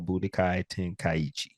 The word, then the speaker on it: Budokai Tenkaichi: the head with it so y'all get this pronunciation right and y'all saying it right Dragon Ball Budokai tenkaiichi all right new drop it's